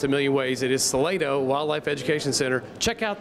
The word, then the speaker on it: Salato: keeping you in, come out here to the Salato Wildlife Education Center. Salato, I hear it pronounced a million ways. It is Salato Wildlife Education Center.